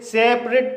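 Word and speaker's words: separate: इसे रेट पढ़ा जाएगा सेपरेट यह एक मल्टीपल सिलेबल वर्ड है क्योंकि इसमें एक से ज्यादा वाउल साउंड है और इसके अंत में ए टी ई आया है इसलिए ए का उच्चारण ई होगा इसलिए इसे सेपरेट पढ़ा जाएगा स्टेज यह एक सिंगल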